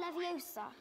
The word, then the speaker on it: Leviosa: you're saying it wrong it's Lev OA bardian Leviosa he's dead all he's really cooking yo he